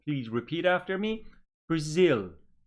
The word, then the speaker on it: Brazil: turkey good here again two syllable words but the stress is on the second syllable please repeat after me Brazil Brazil Japan Japan very good